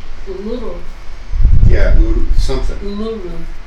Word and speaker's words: Uluru: I couldn't pronounce Uluru. the Aboriginal name. Uluru.